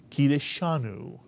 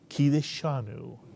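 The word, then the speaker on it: קִדַּשְׁנוּ: You'll also notice there is an accent mark under the shin, right near the kamatz, which tells us that this word is pronounced kideshanu. The accent is on the disha, kideshanu, mitsuyan.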